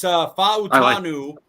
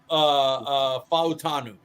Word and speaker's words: Fautanu: It's Fautanu.